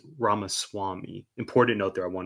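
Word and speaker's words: Ramaswamy: here names are important I called this man ramaswami it's definitely pronounced ramas Swami important note there I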